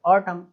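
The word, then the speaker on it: autumn: कोई भी शब्द है, किसी भी शब्द में एम के बाद अगर एन आ रहा है तो एन साइलेंट हो जाएगा। ऑटम, पतझड़, है ना, ऑटम, कॉलम, है ना कि कॉलोमन, ऑटोमन, अरे भाई ऐसे नहीं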